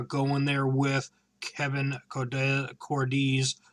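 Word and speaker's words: Cordes: there with Kevin cordz Cordis I believe is how you say it or cordz I think it's D's because of the S and not the Z uh and he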